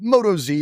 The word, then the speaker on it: Motoz: with Brian at the Motoz. Motoz. We've been saying it wrong. Right? As it is. Motoz. We get a lot of questions about that. Is it Moto Z? Is it Motoz? Well, I'll tell you what,